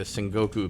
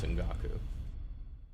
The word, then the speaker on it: Sengoku: Also, like, you're right, by the way, and I keep pronouncing the Sengoku period as Sengaku.